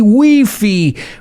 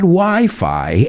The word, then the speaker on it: Wi-Fi: have had wi-fi and please please don't say we fee my ears bleed when i hear weefy we wouldn't have had wi-fi and other wonderful ways